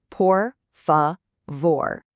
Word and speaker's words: por favor: Let's make sure we get the pronunciation right. Por favor.